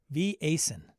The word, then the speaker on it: Vaesen: Somebody corrected me on Blue Sky about how to say Vaesen. Swedish. Harrigan. He's like, I find it hilarious when I hear English speakers pronounce. I think he says it's Vaesen.